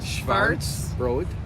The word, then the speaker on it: Schwarzbrot: Schwarzbrot.